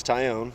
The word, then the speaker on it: Taillon: the board so it's tyown like a tie and you own it and you did a